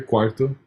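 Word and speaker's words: quarto: and when it's in the middle of the word so and usually surrounded by a consonant um like uh like here cuarto it has that R sound it has that R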